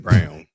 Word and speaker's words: Braun: Is Christian Braun a Christian? Christian Brown. Christian Braun. Christian Brown. The way because it's spelled like Braun.